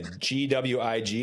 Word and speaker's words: McGuiggan: So, okay, Gwig is how you pronounce the middle part of that? Yep, Gwigs.